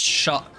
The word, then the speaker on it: Skadu: Skadu comes from Old English and is pronounced shot.